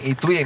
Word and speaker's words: twee: Io dico sempre come il tweet di Twitter, ma senza certo. la T finale.